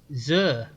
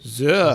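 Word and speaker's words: Xur: I mean, it's spelled X U. Zur, isn't it? Zur. Zur. Okay. Okay. Hello, Zur. Hello, Zur. The giant floating head of Zuru turns to the ambassador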